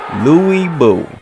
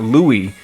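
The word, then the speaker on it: 呂布: expert or anything so it's not Louie it's l it's like this L and W sound put together and I think again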